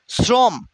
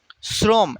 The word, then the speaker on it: শ্রম: হয়ে যায় অতীত অতীত শ্রম শ্রম এই দেখেন এখানে যখন তালব্যস থাকবে সেটা দন্তস্য হয়ে যায় কিছু কিছু ক্ষেত্রে এক্সেপশন